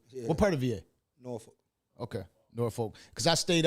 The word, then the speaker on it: Norfolk: Like, So how you say it? Norfolk. Norfolk. Like fuck at the end.